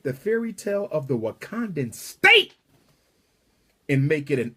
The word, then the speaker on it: Wakanda: if you're wondering why Wakanda rhymes with Uganda is because the original